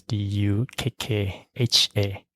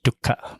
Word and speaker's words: dukkha: The spelling in English is Dukkha. People pronounce it as dukkha, but in Burmese it's dukkha.